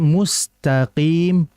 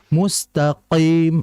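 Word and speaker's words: مستقيم: Jadi mustaqim qim qim seperti itu. Bukan mustaqim.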